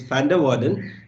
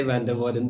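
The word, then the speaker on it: van der Waerden: far f i think this v is pronounced like f so it's van der waals but having said that i might again say van der vaarden because that's easier for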